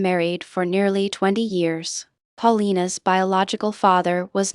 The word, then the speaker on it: Paulina: The child was named Paulina instead, pronounced Paulina, and Longworth accepted her publicly without qualification.